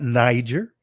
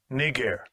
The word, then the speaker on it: Niger: It's not Niger. Actually, it's pronounced this way. Strong's G 3526. Niger.